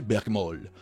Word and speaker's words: Bergmal: sais pas en fait je le prononce comme du monde bergmal qui é prononcé il est marqué plutôt prononcé bergmall bergmall est un générateur